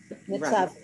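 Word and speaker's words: מצבך: Yeah, the vowel is really the shva. Mitzav. That's the end of the syllable. Mitzavcha.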